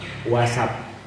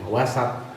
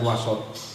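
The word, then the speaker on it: وسط: Cara bahasanya asabi', wasat. Beda, orang kadang banyak salah bacanya. Wasat bukan wasot. Wasat itu pertengahan. Islam wasatiyah. Wasat harus itu. Banyak orang salah baca wasot, wasotiyah.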